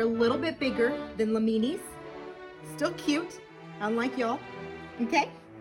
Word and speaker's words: Lamini: Your first cousin, who is the smallest, actually bigger than you guys because y'all tiny, is called the Llamini. Rhymes with martini.